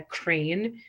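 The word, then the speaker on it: Crain: whose name is Samantha Crane and it's spelled c r a i n like pain um her album I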